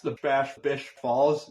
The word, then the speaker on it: Bash Bish Falls: number two is a little bit tricky to pronounce and that's The Bash Bish Falls near Mount Washington this is actually the tallest